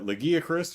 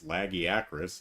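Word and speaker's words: Lagiacrus: So, title update 2 added Lagiacris, or I guess Lagiacris is the proper pronunciation, but I don't think many people are going to use that.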